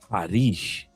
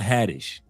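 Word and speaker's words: Haddish: And she says the pronunciation of her name is Harish, not Hadish.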